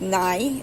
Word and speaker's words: nei: The word for no is nei, N-E-I.